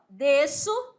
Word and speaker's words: desço: falar assim DC D esse som desse S aqui não é pronunciado É D C mas na hora da escrita você tem que colocar o sezinho aí aí s c dilha aqui ó desço XC eceto eceto agora